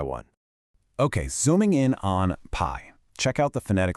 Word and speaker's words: pai: Notice how that i and the e just blend super smoothly into a single syllable.